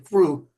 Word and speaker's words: Krewe: I spelled it like they do there, Krewe, crew. That's how you do it in Louisiana for the parades.